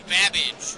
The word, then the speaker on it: Babbage: Your buzzer's the letter B as in Babbage, which is something that rhymes with cabbage.